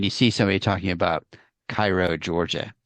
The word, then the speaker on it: Cairo: see somebody talking about Cairo, Georgia, it's not Cairo, it's Cairo, and Houston Mill Road, it's Houston Mill Road, and Yeah.